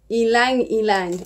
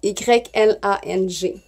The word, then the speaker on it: ylang: Alors, le mot se dit Y-L-A-N-G. Alors, moi, je le prononce ylang.